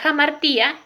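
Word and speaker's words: hamartía: trágico, que es la jamartía, la hibris, la anagnórisis y el patos. La jamartía, ¿sí? Se escribe con H, pero se pronuncia como J.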